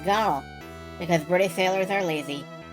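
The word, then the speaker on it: gunwale: Gun whale. The low ridge on the side of a ship's top deck to stop guns rolling off it. Guess how it's pronounced? That's right, it's pronounced gunnel.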